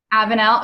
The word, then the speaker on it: Avenel: is it a van Avenel let me see if I can unmute you are you able to unmute yourself there we go yep it's Avenue Avenel okay I have been pronouncing it right I'm like I feel